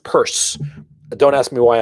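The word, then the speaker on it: Peirce: i r CE and it's pronounced purse don't ask me why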